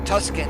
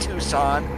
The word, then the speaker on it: Tucson: long before we're through Tuscan here yes I know it's pronounced Tucson but trying to be